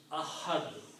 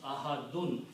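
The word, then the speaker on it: أحد: Likewise, if you stop here, you pronounce Ahad. Don't pronounce Ahadun.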